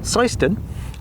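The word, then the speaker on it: Seend: pockets where it's really difficult to get the pronunciation right so I really do appreciate that Martin thank you so it is seon and across seon common is a lovely old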